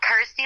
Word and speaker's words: Kirsty: obviously it helps that it's you know rhymes with my name and helps people pronounce my name correctly so I'm like cool Kirsty like thirsty got ity like thirsty